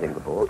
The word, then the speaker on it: Ingeborg: You have a wife, Ingeborg, is it, the pronunciation? Very good, yes, quite right, Ingeborg.